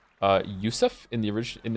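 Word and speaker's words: Yosef: about having many names the name Joseph is pronounced uh yusf in the orig in its original Hebrew form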